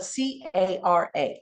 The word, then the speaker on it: cara: If I said the word for face in Spanish, it's spelled C-A-R-A.